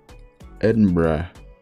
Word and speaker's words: Edinburgh: person they're gonna say it's not bro it's it's not brah it's not brah it's adam edinburgh how does it become